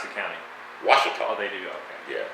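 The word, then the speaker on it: Ouachita: small town and the county how do they pronounce the county washita they do yeah not oakley do you know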